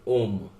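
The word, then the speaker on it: homme: एम एम ए तो हा जो होता है वो साइलेंट हो जाता है मुंह हो जाता है हम हा को साइलेंट कर देते हैं और शब्द जो है उसके अगले अक्षर से पढ़ने हैं तो हा के आगे क्या है ओम तो ऐसे पढ़ेंगे हम ओम तो हमें बोलना है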